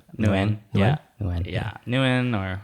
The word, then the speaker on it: Nguyen: So it's like Nguyen? Yeah, it's like yeah, when. Nguyen.